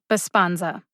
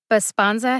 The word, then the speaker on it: Besponsa: we go bisponza b-e-s-p-o-n-s-a bosponza baspanza has three syllables like most three-syllable brand